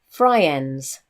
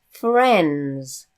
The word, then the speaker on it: friends: would actually be saying fry ends but we don't say fry ends we say friends so this I is actually silent it's so it's fra